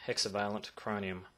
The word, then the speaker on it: hexavalent chromium: I'm pretty sure that's how it's pronounced, hexavalent chromium. It is a byproduct which